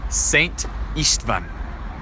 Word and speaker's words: István: So the SZ is pronounced as an S, as we would say it, so that's Saint. And the S is pronounced with an SH. So that would be Saint István.